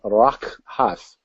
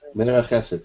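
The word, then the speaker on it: מְרַחֶפֶת: And moved is, see if I can pronounce this, rakhath. I'm not sure if I did that correct, Doug, but you can correct me if I'm wrong. I didn't. Okay. Merachefet is how you say that.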